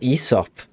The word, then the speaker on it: Aesop: I mean, I think we mispronounced like a litany of you know, classical words. It was Aesop.